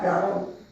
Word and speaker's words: Gihon: But then your second river is Gihon, or Gion, or Gihon. I said it right, Gihon.